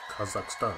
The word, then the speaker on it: Kazakhstan: Kazakhstan.